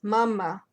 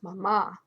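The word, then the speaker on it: мама: on this screen, but there's an accent on the A, the first one, which tells you the word stress. This is done to help Russian students, so they know that it's mama and not mama.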